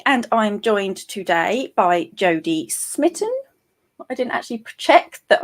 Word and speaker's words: Jodie Smitten: i am chloe and i'm joined today by jodie smitten i didn't actually check that i'm pronouncing your name correctly yeah that's right fantastic